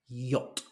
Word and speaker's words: yacht: spell this word because the letters as they are bear no relation really to the pronunciation that we would use so this is yacht yach this is a nice